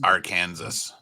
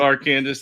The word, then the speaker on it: Arkansas: you're all right jack it is pronounced Arkansas it's not your Kansas it's our Kansas Etc I know they're called arcandis and R Kelly so